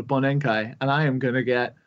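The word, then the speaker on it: bōnenkai: year party, which in Japan is called a bonenkai, and I am gonna get fucking wasted.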